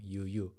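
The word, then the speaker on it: ㅠ: Yuyu. It's just the the reason that it's pronounced as yu is because the vowel is just u you know a ya y or yu e like that.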